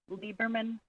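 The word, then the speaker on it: Liebermann: now begin hello my name is liberman for the record and it's spelled m a r i a tyon t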